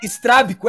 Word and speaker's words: Strábico: Como que pronuncia? Strábico, é russo.